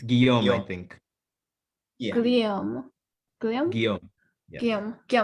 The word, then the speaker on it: Guillaume: And I think was it, I think it's either Guillermo sorry, yeah, sorry, I wasn't pronouncing the name right. So I think can you repeat your name again? It's Guillaume, I think.